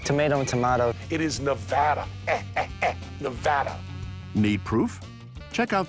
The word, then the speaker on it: Nevada: kind of like tomato and tomato it is Nevada Nevada need proof check out the new specialty